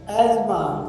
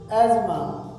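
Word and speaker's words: asthma: English meaning है से positively with confidence promise और अफ हमारा नेक्स्ट वर्ड है एजमा एस टी एच एम एजमा इसमें टी और एच साइलेंट होते हैं।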